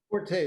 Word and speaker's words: Forte: Forte is good. Yeah. I like that because it's your forte.